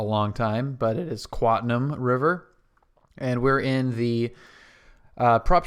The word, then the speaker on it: Quatam River: Welcome back to Quatam River, which I was mispronouncing as Quantum River for a long time, but it is Quatam River.